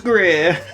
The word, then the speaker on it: Greer: fear, for here is Greer. Okay, I'll try and remember that. That's the rhyme.